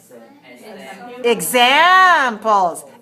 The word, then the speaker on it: examples: the next word here examples examples three syllables where's the stress two let me hear you